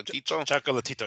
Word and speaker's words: Chocolatito: Rodriguez is taking out chocol chocol uh how do you say it choco chocolatito yeah you got it chatito and and uh